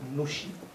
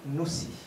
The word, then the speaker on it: Nouchi: À ce propos, le mot Nushi se prononce selon deux manières. On peut dire Nushi ou Noussi. On trouvera davantage la prononciation Noussi chez les natifs du Nushi et le Nushi chez ceux qui ne sont pas natifs. Mais en djoula, puisque ce mot vient du djoula, on a les deux prononciations.